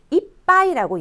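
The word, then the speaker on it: 一杯: 표를 보시면 한자는 이찌 하이가 아니고 이빠이라고 얘기를 합니다. 이빠이. 발음의 변화가 나와서 그래요.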